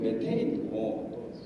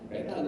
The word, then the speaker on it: 메테인: 그래서 도저히 무슨 말인지를 잘 그 당시에 못 알아듣고 나중에 그게 메탄인 줄 알았는데 국제적으로도 지금 메테인이고 에테인이고 이게 공식적인 용어인데 우리는 과학적으로 이때까지 계속 메탄 이렇게 써왔기 때문에 계속 그렇게 쓰는 것 같은데 특히 오늘 프레젠테이션 하신 분 네.